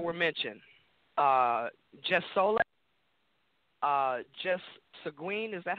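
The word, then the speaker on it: sanguinis: Just Soleil, just Seguin, is that how you pronounce that word? S-A-N-G-U-I-N-I-S? Yes, sanguine.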